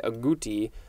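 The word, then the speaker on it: agouti: how it's pronounced i wanted to say aguti but i think it is telling me it is a guti or something like that a-g-o-u-t-i it is a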